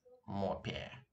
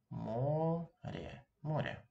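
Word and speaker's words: море: I hope you didn't read it as more Pierre. No, it's more more. And this letter is stressed in this case.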